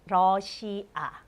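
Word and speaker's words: 러시아: it is Rossia right Russia but we pronounce Rossia and the last one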